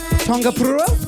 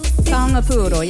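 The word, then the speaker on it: taonga pūoro: I know on the original you have, now I may butcher the pronunciation, Tikitane. Tikitane is playing the Tongapura? Tongapuro, yeah, it's the traditional Māori instrument.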